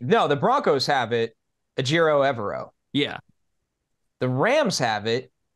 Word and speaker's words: Ejiro Evero: And their defensive coordinator, Ejiro Evero, yep, passed up the interim job.